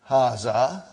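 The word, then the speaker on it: هذا: Haza. See, it is pronounced like Haza. But this alif is not written. It is explained in the key also.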